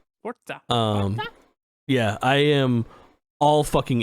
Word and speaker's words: Forza: I'm glad you're pronouncing Forza correctly. That's all I gotta say. Forza.